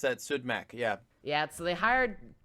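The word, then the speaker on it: Siodmak: name is Kurt sudbeck do not be intimidated by the o with a slash with it by the way I think it's uh is how it's pronounced so it's sued back okay okay I'm gonna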